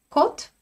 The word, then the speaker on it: код: Notre première paire, vous la connaissez déjà très bien et j'espère que vous savez bien prononcer, malgré ce qui est écrit, côte, côte.